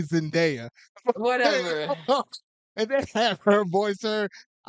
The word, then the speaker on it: Zendaya: I was gonna say Zendaya. Number one, that's funny because you said her name wrong. You meant to say Zendaya, Whatever.